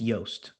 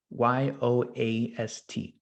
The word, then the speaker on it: Yoast: I think it's Yoast. Yoast, like toast.